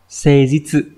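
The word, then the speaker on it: 誠実: Thì thành thực sẽ đọc là seijitsu.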